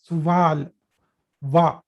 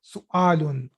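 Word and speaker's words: سؤال: So it is not pronounced as suval wa. No, it is not. This is not wow. This is Hamza. So it should be read as su'alun.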